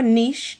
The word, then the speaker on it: niche: number three is okay knit your Niche depending on how you want to say it right um and you